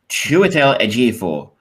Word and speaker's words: Chiwetel Ejiofor: Chiwetel Ejiofor, his character Solomon.